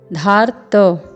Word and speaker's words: धार्त: यहाँ पर आप देखेंगे निहत्य, फिर है धार्त, ध में आ का स्वर है, फिर पूर्ण वर्ण त है जिसमें रेफ के रूप में र का प्रयोग है।